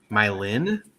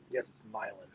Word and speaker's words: Milan: Mylin? That's how they say it? It's Mylan. Yep. Wow. Okay. It's all good. Yeah, we're not in Italy. That's how I knew it. I knew it from the Italian city name.